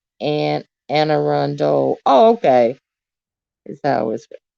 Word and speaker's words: Anne Arundel: get your next next best version oh it's pronounced and anne arundel oh okay is that always pronounced okay and